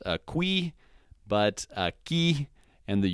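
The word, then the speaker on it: aquí: not quay and then using q-u-i we'll say aki which means here again that's not a qui but a ki and the u is silent alright so that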